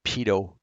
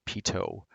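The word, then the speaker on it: pitot: Then finally, we have the pedo heat. That's pronounced pito.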